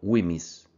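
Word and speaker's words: WHMIS: W HM i s por sus siglas en inglés pronunciado wiis la participación tiene diferentes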